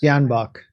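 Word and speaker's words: Tyahnybok: Janbach.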